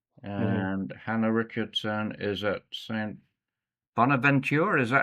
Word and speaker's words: St. Bonaventure: Zoe Richardson's at Siena College, and Hannah Richardson is at St. Bonaventure. Is that how you pronounce it?